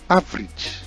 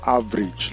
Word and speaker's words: average: The next one is pronounced average, and not average like a Nigerian or perhaps one who mispronounces it will want to do. So it is correctly pronounced average, and it is a noun.